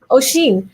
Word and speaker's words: Oisin: i pronounced that correctly oh sheen like a s8 yeah so it it's actually the same spelling as the gaelic version of kathleen so uh that i n is pronounced een uh in north yeah